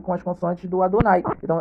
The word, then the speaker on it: Adonai: rebater né o tetragrama enquanto meu nome é pronunciado com as letras Alef né que é o a o dalets que é né o d o nunca é o n e outros né que aqui Adonai então você vê aqui